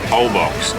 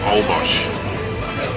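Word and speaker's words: Holbox: Olbox or Olbosch, depending on how you say it.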